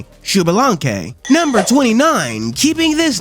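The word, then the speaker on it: Xbalanque: And this guy's name is pronounced Shubalanke. Shubalanke.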